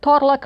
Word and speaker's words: Torlak: I have to notice that Torlak rhymes with Morlak.